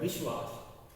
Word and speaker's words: विश्वास: विश्वास, तो यहाँ पे है हमेशा आधा ही होता है, इसीलिए इसका उच्चारण भी कम हो रहा है। विश्वास, विश्वास, श आधा ही उच्चारण किया जाता है, कम देर के लिए